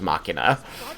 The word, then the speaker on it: machina: he misses the smells it might upset you to know that the generally accepted pronunciation of that word is Machina in the streets this